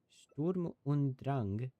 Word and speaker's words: Sturm und Drang: with normal attacks in Sturm und Drang, I believe is how it's pronounced because it's German.